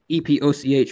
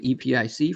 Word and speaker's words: epoch: And there's multiple correct pronunciations of that. Epoch, epoch, epic, all of those uh different people say, okay, I tend to have the same one same pronunciation as EPIC, but yeah, I'll I'll